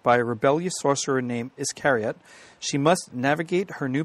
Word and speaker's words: Iscariot: I'm up on page 300 for Iscariot. I think that's how you'd pronounce that. Yep, as in Judas Iscariot.